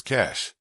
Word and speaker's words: cache: Because he used up all his cache. That's spelled C-A-C-H-E, like computer cache memory, but it sounds like cash, as in money.